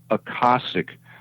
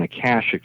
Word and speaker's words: Akashic: He said, yes, it is, but it's pronounced Akashic rather than Akashic, the way we pronounce it on Earth.